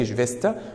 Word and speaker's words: Geschwister: Geschwister اللي انا قلتها من شويه اللي هم مين؟ Brüder und Schwester. Schwester. خلي بالنا من النطق ديت. Geschwister.